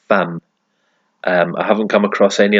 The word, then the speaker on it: femme: And as far as I know, femme is the only instance I can think of where that E is pronounced like an A, like femme.